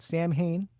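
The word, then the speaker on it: Samhain: original Misfits then he started a band called Sam Hayne um yes that is the way it's pronounced because Glenn dadzie is from Lodi New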